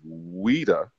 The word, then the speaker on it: Ouidah: We're just gonna deal with the place you said was Ouidah, correct? Am I pronouncing it like the people there pronounce it?